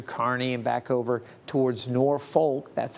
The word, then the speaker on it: Norfolk: North Platte through Kearney and back over towards Norfolk. That's how they pronounce it there.